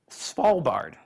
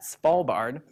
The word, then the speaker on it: Svalbard: but even more fascinating perhaps as small bard if anybody wants to know how to how to pronounce that Svalbard however small bard is actually this archipelago